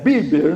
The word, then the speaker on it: Bieber: Quando Justin Bber biber bber, eu costumo falar biber, mas é bieber, né?